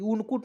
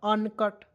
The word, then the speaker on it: uncut: उसके बाद यहाँ आप देखेंगे UNCUT, तो देखिए उनकुट नहीं पढ़ना है, यू से ऊ न, तो उनकुट नहीं पढ़ना है, UN को अन पढ़ते हैं और CUT को कट पढ़ते हैं, तो क्या हो जाएगा अनकट।